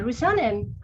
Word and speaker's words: Rusanen: With us today, I have a guest, and her name is Rusanen. Hi. Have I pronounced your last name properly?